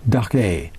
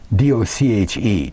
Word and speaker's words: Doche: It's Dochar, Doche, D-O-C-H-E, Doche.